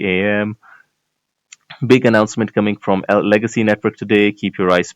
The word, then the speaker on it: LGXY: How do we pronounce? I mean, we will still pronounce it as Legacy, right?